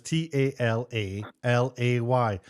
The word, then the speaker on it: Talalay: And her last name is Talalay. So that's Talalale. Talalay. Rachel Talalay. Simple as that. No, there it is on the screen. It's kind of offensive, isn't it? Really? Yes. Talalay.